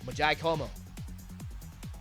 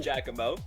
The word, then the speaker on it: Giacomo: Majai Como. Hopefully I'm actually pronouncing his name right this time. No, it's tricky. It's Giacomo.